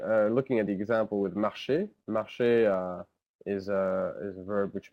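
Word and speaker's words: marchent: E-N-T, but it's just pronounced E. So the N and T are not pronounced at all.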